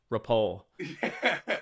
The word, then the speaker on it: Ripoll: I'll say it right, when I get the call I'll be like, rappel.